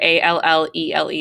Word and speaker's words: allele: different versions of a gene is called an allele so this word here a-l-l-e-l-e is pronounced allele we typically in eighth grade science